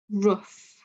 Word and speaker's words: rough: And rough, it's that uff sound.